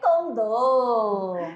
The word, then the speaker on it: condor: É condor ou condor? Ai, condor ou condor? É condor. Então marca um X aí, marca um X aí que não é condor, né?